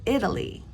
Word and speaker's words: Italy: is Italy Italy because the a in Italy is not stressed so we pronounce it Italy however Italian the a